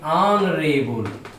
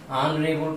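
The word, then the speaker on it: honourable: इसी तरह बच्चों एच यहाँ आया है, ये एच साइलेंट है, तो इसको हम पढ़ेंगे ऑनरेबल। क्या पढ़ेंगे? ऑनरेबल पढ़ेंगे।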